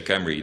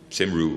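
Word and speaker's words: Cymru: to my delight, yeah, that's the strange way you pronounce it, Team Camry, because Camry means Wales. And the Welsh say Camry, they don't say Simru or so.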